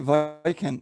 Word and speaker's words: Vojkan: No, it's okay, Vojkan. Yeah. Okay. Because the Englishmen often say the V-O-J, they spell it like Vojkan.